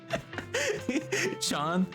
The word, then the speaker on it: Shian: It's not seen. Sean, you you say Sean.